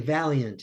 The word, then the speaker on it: Vaillant: Exactly. Valiant, he pronounces it. Valiant.